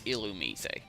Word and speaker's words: Illumise: and I have actually read up on the pronunciation it's illumise don't believe me look it up yourself from